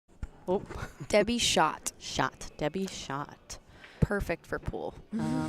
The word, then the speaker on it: Schjodt: We also, how do you pronounce Debbie's last name? Oh. Debbie Schjodt. Schjodt.